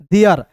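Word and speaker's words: there: TH है दोस्तों तो TH का द लिखना है। ER है तो इसका उच्चारण एयर के रूप में करना है। तो क्या हो जाएगा दोस्तों, देयर।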